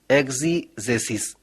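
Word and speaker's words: ἐξήγησις: यूनानी भाषा में एक शब्द है जिसका उच्चारण होता है एक्जीजेसिस।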